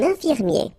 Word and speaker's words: infirmier: I-E-R at the end, ye, ye. Infirmier.